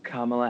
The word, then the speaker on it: Kamala: It's comma with a la at the end.